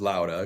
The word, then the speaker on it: Lauda: Lauda Cube is a building tech company, and like you said, Tyler, the official pronunciation is Lauda because it's a Swedish word, but we don't expect